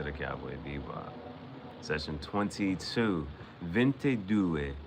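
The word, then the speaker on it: ventidue: Vente dou is how you say 22 in um 22 in Italian.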